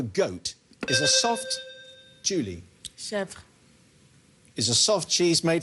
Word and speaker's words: chèvre: Chèvre. Is a soft cheese made from goat's milk. Chèvre is right, yes, well done.